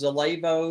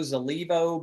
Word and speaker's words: Zallevo: we are Zelo in case you're wondering it's pronounced Zelo zivo by some of the aies zalo it stands